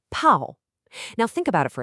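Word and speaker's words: 炮: When we add the fire radical to bao, we get the character pao, pronounced pao.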